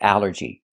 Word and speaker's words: allergy: The first thing that's important is the al. This word breaks the rule. The rule is a ll makes the sound all like ball and call. But here it makes the a sound.